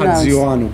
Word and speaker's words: Haji-Ioannou: How does it pronounced? Hajianu, but really you have to call me Stelios like everybody else.